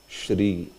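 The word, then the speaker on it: श्री: becomes sh uh sh it's not fre it is Shri sh sh isop like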